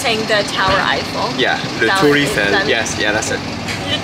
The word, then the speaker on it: Le Tour Eiffel: Le Tour Eiffel. So they're saying the Tower Eiffel. Yeah, Le Tour Eiffel.